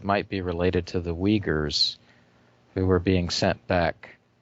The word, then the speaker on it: Uyghurs: And I I think that the Uyghurs are I didn't know how to pronounce it. I was thinking it Uyghurs, but okay, Uyghurs.